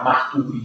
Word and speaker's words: Marturi: E io per una vita ho pronunciato Placido di Marturi, visto che non c'ero mai stato, perché è un paese in Toscana che si chiama Marturi, c'è proprio l'accento sulla U.